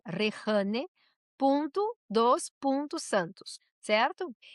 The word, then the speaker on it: Rejane: Mira, minha rede, inclusive eu coloquei meu nome aqui, exatamente minha rede, que é Rehane, se escreve Rejane, Rehane, ponto Santos, certo?